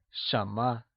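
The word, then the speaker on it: 什么: what is translated as Shama let's look at the pronunciation for this Shama is pronounced in the mid rising tone let's hear you say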